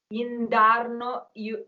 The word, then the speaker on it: indarno: Indarno, this is a word that you will never hear because nobody pronounces the consonants here. It's very hard, obviously, because of the melody. But if you listen to how it is sung, you will never hear indarno. You would hear iao. That's what you hear.